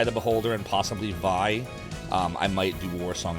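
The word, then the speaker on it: Vay: Vi. I have that, too. I didn't know that's how you pronounced it. Yep. Vi.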